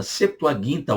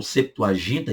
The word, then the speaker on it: Septuaginta: Bíblia Septuaginta, Septuaginta ou Septuaginta, e pronuncie como você quiser, Septuaginta ou Septuaginta, que não vai mudar nada no nosso ponto